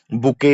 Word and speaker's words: bouquet: चलिए बात करते हैं बुके या फ्लावर्स। बुके की स्पेलिंग आपको याद रखना है।